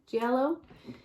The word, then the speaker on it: giallo: giallo i think that's how you say it giallo which led him to being referred as the